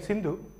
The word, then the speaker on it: Sindhu: The word Hindustan is derived from the name Sindhu, pronounced by the Westerners as Hindu, Indu.